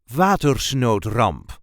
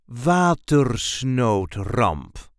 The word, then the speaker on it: Watersnoodramp: This is the way we say Watersnoodramp. Watersnoodramp. There is a light emphasis on the first syllable. Watersnoodramp.